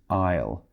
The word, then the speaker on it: aisle: spelling it's a is L II but the pronunciation is aisle so that would be a CMD Ventana or